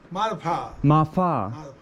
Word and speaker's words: Marpha: or martha marpa is it marpa or martha martha okay thank you very much okay so cleared